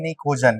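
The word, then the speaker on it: pnictogen: निकोजन। क्या होता है? निकोजन। नी मतलब होता है, नी में देखो पी साइलेंट होता है ना, निकोजन ना, निकोजन फैमिली भी बोलते हैं।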